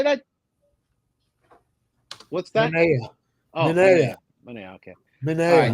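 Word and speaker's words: Manaea: Manaya.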